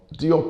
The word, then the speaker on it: Diop: and to diop um diop is the pronunciation we use in english but apparently senegalese people say it's pronounced job or job um his